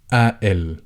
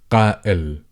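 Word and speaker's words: قائل: So, in dialect, the first pronunciation I gave, as most people in dialect, they tend to replace this harder sound, qaf, with as the glottal stop. But then here, we do have another glottal stop, which is the hamza.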